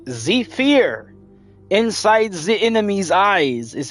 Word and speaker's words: Zephyr: You're supposed to say it like Zephyr. Inside the enemy's eyes is how you're supposed to say it. It's not Zephyr, it's Zephyr.